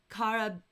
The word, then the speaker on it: Karabinerhaken: Honey, how would you pronounce that? In auf Deutsch, in German, I would probably say Karabinerhaken. Karabinerhaken. Yeah, that's how I would say.